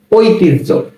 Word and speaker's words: ঐতিহ্য: ঐতিহ্য।